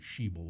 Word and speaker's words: Schaible: name is Schaible oh he pronounces it she bol apparently she will my